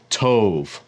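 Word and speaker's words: טוב: word for good in Hebrew is to but it's actually pronounced Tove if you don't know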